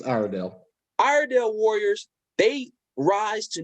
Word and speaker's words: Iredell: It's Iredell.